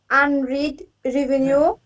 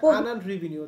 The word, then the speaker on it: unearned revenue: Note payables, account payable, other payable, unread revenue, unearned revenue. এটা উচ্চারণ হচ্ছে আনআর্নড রেভিনিউ, তার বাংলা হচ্ছে অনুপার্জিত আয়।